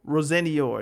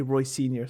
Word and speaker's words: Rosenior: But now, when Chelsea play Arsenal, it was Mikel Arteta against Liam Rosenior. It's just like, I want to say Roy Sr. so badly, but I know that's not the correct pronunciation.